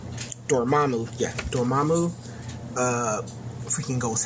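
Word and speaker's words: Dormammu: Dormamu. That is how you say his name. Dormamu.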